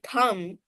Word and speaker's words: thumb: The pronunciation of the word t h u mb thumb is only thumb. The b at the end doesn't have any sound though it exists.